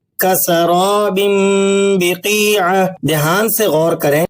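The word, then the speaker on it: كسراب بقيعة: کسراب بقیعۃ، کسراب بقیعہ، کسراب بقیعہ۔ دھیان سے غور کریں، تنوین کی آواز ناک سے نکل رہی ہے، با کا تلفظ ہلکا اور واضح ہے اور درمیان میں کسی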